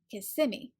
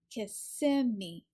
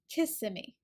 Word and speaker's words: Kissimmee: always heard it pronounced Kissimmee the difference in this one Kissimmee is that the stress is on the second syllable Kissimmee Kissimmee sometimes I hear it